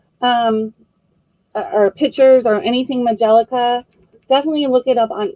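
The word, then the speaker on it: majolica: about majellica vases um or pictures or anything majellica definitely look it up on ebay there is some money to be made in this and there are a lot of collectors with this so it's majellica it's spelt m a g o l i c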